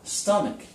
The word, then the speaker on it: stomach: What about the word stomach? Sounds like a K, doesn't it?